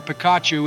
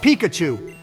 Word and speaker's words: Pikachu: you we named our Picacho and honor you our first Pokemon and most trusted team member couldn't have been named anybody other than George Joe it's pronounced Pikachu that was worse than